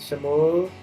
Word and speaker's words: Shmuel: gupshup with Shmuel. How do you say your name, Shmuel? Shmuel. It's 2 syllables. Shmuel.